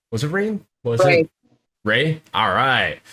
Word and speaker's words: Rae: It Ray? Alright. It's spelled RAE, but it's pronounced RAY, like Ray.